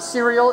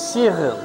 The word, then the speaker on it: Cyril: No, it's not cereal. It's not Cyril. It's Cyril. Cyril. Two syllables.